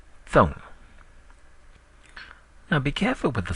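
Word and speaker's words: သုံး: Now, the number 1, 2, 3 is pronounced di, hne, thong. So repeat it with me, English first, followed by Burmese. 1, 2, 3. Di, hne, thong. Again, 1, 2, 3. Di, hne, thong.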